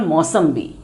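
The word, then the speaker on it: मोसंबी: So little pronunciation difference, but actually the word is Mausambi.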